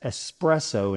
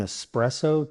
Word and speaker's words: espresso: Can I get an espresso to go? Well done. Soon espresso will roll off your tongue smoothly. And remember, no X in espresso.